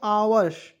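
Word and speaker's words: hours: दोस्तों भूत उसके देखिए एच ओ यू आर एस तो दोस्तों इसे क्या पढ़ेंगे आवर्स एच ओ यू आर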